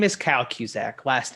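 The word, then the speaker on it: Kucak: kuzak can you please state your name and spell it for the record uh yes i can my name is kyle cusack last name being spelled k-u-c-a-k excellent mr kuzak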